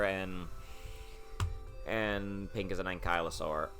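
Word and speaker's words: Ankylosaur: So blue is tracer and and pink is an ankyosaur. Also, it's Ankyosaur, not Ankallosaur. That is stupid. It's Ankyosaur. I don't know why they changed the pronunciation.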